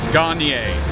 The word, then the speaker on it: Garnier: Garnier. L'Opéra Garnier. Garnier like the hair products, guys, remember? Yeah, exactly the same. Nice and easy to remember. Not L'Oreal Garnier.